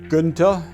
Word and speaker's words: Gunter: my name is Kunta properly pronounced Quinta I was born in what later on